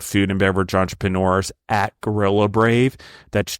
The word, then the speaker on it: Gorilla Brave: r a v e not gorilla grave I think I've probably mispronounced it on before and people like gorilla grave what does that mean no brave brave but anyway there's a